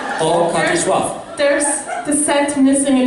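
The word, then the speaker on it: Oachkatzlschwoaf: would love to challenge you to try to pronounce it. Yes. The word is Orkatzeschwach. Oh, cut the schwach. Orkatashwaf.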